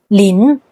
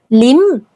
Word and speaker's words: Lin: For example, the clan name Lin is pronounced " Lin" in Mandarin, but among Teochew and Hokkien Chinese, it's often pronounced "Lim."